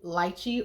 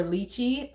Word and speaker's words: lychee: Electric and exotic has fragrance notes of golden dragon fruit, lychee or litchi, however you prefer to pronounce it, litchi nectar, and fresh bamboo.